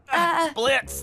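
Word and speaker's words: Blitzø: Blitz. The O is silent.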